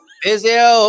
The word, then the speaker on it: Viseu: I recommend a visit to Viseu. Viseu, of course, that's how you say it.